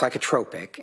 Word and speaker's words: psychotropic: It's pronounced psychotropic.